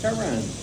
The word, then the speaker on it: Turin: Torino, and the English pronunciation is Turin.